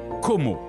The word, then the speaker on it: Como: rives italiennes de l'enchanteur Lac de Come que l'on prononce como en italien et anglais la ville change de